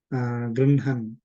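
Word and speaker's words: गृह्णन्: Grunhan, na is pronounced before ha. Grunhan is taking with hands, typically, receiving.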